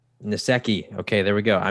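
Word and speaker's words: Nsekhe: They lost wide receiver John Brown, tackle Ty Netsky. I don't know how to pronounce his name. Nasecki.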